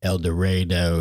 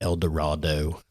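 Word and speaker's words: Eldorado: I called it elor I called it El Dorado and the guy was like it's eloro it's not a Disney movie eloro not El Dorado like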